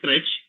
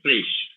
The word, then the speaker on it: crash: Many people tend to pronounce as crutch. It's not crutch, crash, crash.